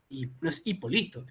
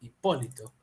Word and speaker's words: Hipólito: en N vocal ahora Hipólito correcto Hipólito es esdrújula hipolito es Hipólito Esta es la respuesta es